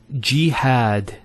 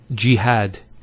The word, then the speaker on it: jihad: followed by the alif next word is jihad so we have here g that's the first syllable and then had jihad so you notice here we have a fetha on the ha followed by the alif and that gives the elongation of the a sound next word ibrahim so